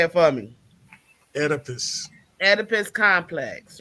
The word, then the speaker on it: Oedipus: I just wanted to address the old, well, how you pronounce this shit? Oh, Oedipus. somebody say it for me. Oedipus.